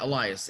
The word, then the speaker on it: Elias: so welcome to the ecom leaders podcast elias is that how you say it yeah elias elias okay perfect awesome and then i